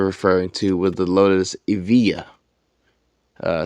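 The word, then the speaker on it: Evija: to was the Lotus Evia uh spelled e-v-i-j-a but pronounced Avia this is the Amira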